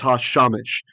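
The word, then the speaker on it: הַשָּׁמֶשׁ: So the suluk, he lengthens our segol into a kametz, the into an ah. That's why it's hashamesh.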